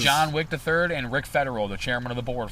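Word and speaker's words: Federeau: Rick Federer, and Wick is spelled W-I-C-H-T, and Rick is R-I-C, Federer, F-E-D-E-R-E-A-U. I had to think about that. E-A-U, so it's French. Federer.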